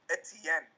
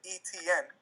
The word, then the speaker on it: Etienne: there last year but I pronounced his name Etienne and now I pronounce it etn so now he's gonna